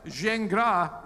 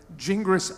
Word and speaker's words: Gingras: got my name right so zhengra is the correct French pronunciation jingris I'll gladly accept all right thank you